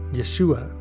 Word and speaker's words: Yeshua: 34 whose original hebrew spelling appears here is pronounced almost exactly the same yeshua interestingly the root for this word is the